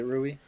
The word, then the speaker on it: Rui: Is it Rui? Yeah, Rui No, now he won't be the wizard guy. or like Rui.